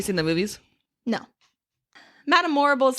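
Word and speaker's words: Morrible: Her name's Morble rhymes with horrible like there's no high and she has the connections with the wizard and all that.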